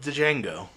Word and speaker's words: Django: we're quite done with Django no I don't think so either and I like it's weird for me with d Jango like because the D is silent cuz I just like